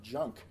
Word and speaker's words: Jung: Carl Gustav Jung. This is another guy who's not good. I actually call him Carl Gustav Junk, which is the proper German pronunciation.